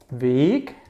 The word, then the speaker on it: weg: The capital Weg is the way. And the lowercase Weg, and you hear the difference. Weg, weg.